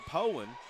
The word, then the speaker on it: Poyen: Well, and I told him early on, I was like, he said it, and then I said Powen. He's like, well, where'd you get your pronunciation? I was like, from a guy that lives there, 3 on the